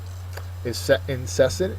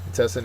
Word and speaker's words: incessant: Incessant is next. Incessant is an adjective. Second syllable is accented.